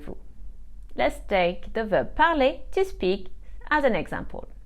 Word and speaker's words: parlent: verb is Le pal you have also probably realized that here there's no different symptoms of the pronunciation between el pal plural this is because a